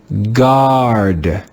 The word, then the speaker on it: guard: In this digraph, the letter A makes the sound ah, the first sound of the English letter A. Let's read this word together. Guard, guard, guard.